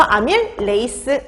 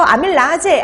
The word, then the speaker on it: 아밀레이스: 끝나게 나와요 자 그래서 아밀레이스 이렇게 보시면 돼요 자 그래서 아밀라제 아밀레이스 다 같은 말입니다 근데 이게 독일식으로 발음 하느냐 영어식으로 발음 하느냐 그 차이만 있는 거예요 근데 요즘에는 영어식으로 보통